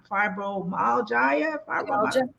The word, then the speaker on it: fibromyalgia: She has fibromyalgia.